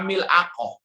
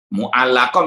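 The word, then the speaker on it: مُعَلَّقَة: Mu'allaqah jadi apa? Mil'aqah karena ini pandangan terkadang karena cepat-cepat atau karena mungkin ada pikiran yang lain bacanya apa? Tergesa-gesa keliru. Ya, mu'allaqah dibaca mil'aqah. Ya. Lamnya didepankan, ainnya di belakangkan.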